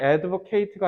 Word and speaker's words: advocate: 둘째 형용사 내지는 명사형 그러면 형용사 동사용으로 만들 때는 니네가 소위하는 에이트로 발음하시면 돼요 근데 형용사나 명사용으로 쓸 때는요 it 알겠죠 그래서 요거 지금 보면 앞에 관사부터 반사 붙었다는 건이 advocate가 아니라 얘는 명사로 쓰여서